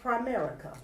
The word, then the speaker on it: Primerica: But anyway, they are representatives of Primerica.